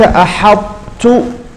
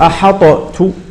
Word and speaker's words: أحطت: كذلك أحط أحط، فلا نقول أحطت أحطت، لا، تقول العرب هكذا أحط، لأن هذه الطاء مدغمة في التاء.